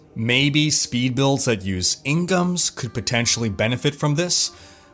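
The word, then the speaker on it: In-geom: damage for instance maybe speed builds that use Inghams could potentially benefit from this because not all speed builds really benefit from the cooldown reduction afforded by the ingham which I know most people pronounce in giome but the Korean pronounced Ingham and it's a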